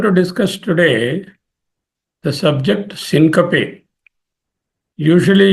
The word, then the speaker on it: syncope: Usually you are used to pronouncing it as syncope. It is not correct. Syncoptein. Syncoptein is a Greek word. From the syncoptein, the word syncope is derived. Syncope. Syncope. Syncope is the pronunciation.